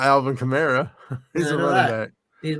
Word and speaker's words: Kamara: It's Kamara, man. It is okay. 90% of everybody says Kamara. I think every once in a while, an announcer might say Kamara.